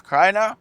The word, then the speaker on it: Krainer: So I'm here with the man, Felix Krainer.